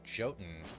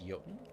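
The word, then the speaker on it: Jottun: You pronounce it jotin and not y. I always thought it was yoten. I mean, apparently not in this world.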